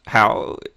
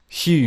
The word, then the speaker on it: Huw: Is it pronounced How? Is that right? Nah. It's Huw. Huw. Like Hugh, but it's the Welsh way, man.